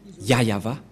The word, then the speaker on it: Yahvah: voit rien et donc c'est bien la vraie prononciation de son nom yayava voilà le ya et voilà la suite après